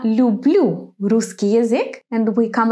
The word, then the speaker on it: люблю: And then he says я люблю русский язык, and we come across another verb here, love, любить, to love.